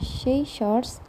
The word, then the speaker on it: scissors: Examples of silent letters in English are the letters B in subtle, C in scissors, G in design, T in listen, and C in talk.